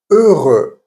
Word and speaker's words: heureux: If it's not on its own, it's pronounced E, like heureux, happy, heureux. Now this weird combination of